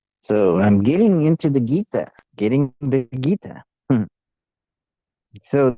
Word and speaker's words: Gita: It's spelled Gita, but I spelled it Geeta so that maybe it helps people pronounce it correctly. People of the English persuasion will see it and they won't say Jita or Gaita or something else.